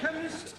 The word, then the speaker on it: chemist: blame me k e chemist does not begin with a k it sounds like it begins with k CH H but that